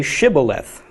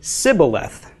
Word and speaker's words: Shibboleth: would say to him then say Shibboleth but he would say Cybil left not being able to pronounce it correctly thereupon they would seize